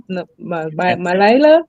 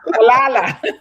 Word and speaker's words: Malala: I know the name, but I can't pronounce it. It's okay. Mallaya. Mallaya. Right. I got it right. Thank you. Malala.